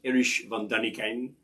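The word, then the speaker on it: Erich von Däniken: the pyramids anybody remember eric von daniken i believe it should be pronounced irish van daniken this was schlock german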